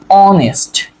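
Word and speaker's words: honest: আপনি কিন্তু এই এটাকে কি উচ্চারণ করেন না? অনেস্ট উচ্চারণ করেন না। কেমন? অনেস্ট উচ্চারণ করেন না। আপনি কি উচ্চারণ করেন? অনেস্ট। কেমন? তাহলে এই উচ্চারণ কার মত হইছে? এর মত হইছে।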